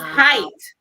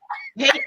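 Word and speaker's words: Haight: They spell hate H-A-I-G-H-T and rage R-A-Y-G-E. It's height. It's height and Rajay. They say they pronounce it hate and rage, and then they say good luck, kid.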